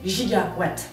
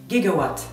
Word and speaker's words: giga: effet il s'avère que les Américains ont davantage l'habitude de prononcer giga avec un G dur gigaw il se trouve que